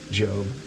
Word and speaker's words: Gob: Playing as Job Bluth. Gob. Job. I love it. It's spelled Gob.